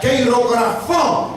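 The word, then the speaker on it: χειρόγραφον: En griego es una palabra que se pronuncia keirografón, que significa pagaré, reconocimiento de deuda.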